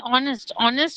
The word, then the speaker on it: honest: And honest officer, we pronounce as honest.